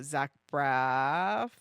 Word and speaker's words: Zach Braff: I loved his T-Mobile home internet feeling commercial with Zach Braff.